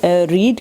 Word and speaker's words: read: Read क्योंकि रीड की third form use हुई हुई है। रीड, रेड, रेड स्पेलिंग वही होते हैं, लेकिन सेकंड फॉर्म को भी रेड पढ़ते हैं और थर्ड फॉर्म को भी रेड पढ़ते हैं।